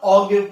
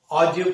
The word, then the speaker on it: ogive: तो प्रोनाउंसिएशन इतना ज्यादा मैटर नहीं करती, ऑगिव नहीं पढ़ते, बस ये देख लीजिएगा ऑजिव पढ़ते हैं, ऑजिव। हमारे एनसीईआरटी बुक में स्पेशली दे रखा है कि इसे ऑजिव पढ़ा जाए, ठीक है।